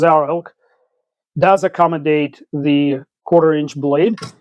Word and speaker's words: XARILK: Zarilk spelled with an X but pronounced Zarilk does accommodate the quarterinch blade.